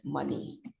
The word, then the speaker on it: money: very familiar word money it's pronounced as m-a-n-i we don't say as money we don't say it's since it's written as m-o-n-e-y logically it should be money but here we pronounce it as money m-a-n-i money can rhyme with